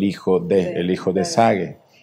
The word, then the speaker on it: Zague: años el español Exactamente Bueno en portugués sería y en español zague porque la diferencia es que en portugués la seta si se pronuncia muy marcada no y aquí se pronuncia como ese zague no entonces en portugués